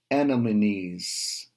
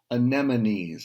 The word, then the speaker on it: anemones: is swimming along and see Andamanese I don't even know if I'm pronouncing that word right anemones I think is how it is said who looked like pink